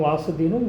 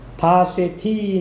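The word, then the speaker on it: ושתי: 바쉐티 나오죠? 바쉐티가 원어 발음이에요. 와스디인데 와스디. 페르시아, 바사어로 아름다운 여인이라는 뜻이다.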